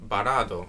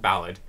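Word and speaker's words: バラード: by the name of barado or ballad as it be pronounced in english composed by mr utanoichi i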